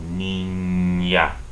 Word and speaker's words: niña: The ñe, which is N with a tilde on top, is pronounced as if there was a Y right after this N. Between the N and the A, there's a Y. So, niña.